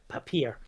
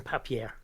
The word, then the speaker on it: Papierfresse: Papier. I was going papier, wouldn't I? I was doing it French, not German.